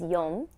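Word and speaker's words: 四: different ways one is Yom and the other is she she is considered very unlucky because it sounds like the word death similarly When you're counting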